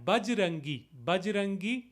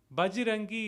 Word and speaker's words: Bajrangi: And Bajrangi. Bajrangi is again a colloquial way of pronouncing it, the Avadhi influence in it.